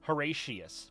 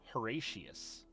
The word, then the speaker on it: Horatius: I'm saying your name wrong when I talk about you. It's all right. Horatius. My name is Horatius. You can shorten it to Hora if you'd like, but Horatius.